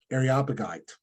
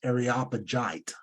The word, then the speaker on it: Areopagite: uh Ariel gapite um no areopagite I'm trying to go too fast um it also sometimes pronounced areopagite I've run into both of those but others that we